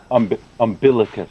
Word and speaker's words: umbilicus: The second is umbilicus. Navel, belly, button, tummy, button. My pronunciation is correct or wrong? Umbilicus.